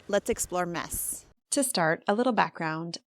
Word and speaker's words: Metz: And a little note on pronunciation, it's mess, so it rhymes with yes.